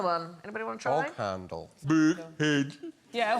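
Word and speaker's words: boghandel: Bog handle. Big head. Yeah, how do you pronounce that one? Bullhandle. Bullhandle. No, Sandra. no, bullhandle.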